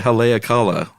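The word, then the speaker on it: Haleakalā: I would say Haleakala. I think it is, but I think the accent's actually on the last syllable.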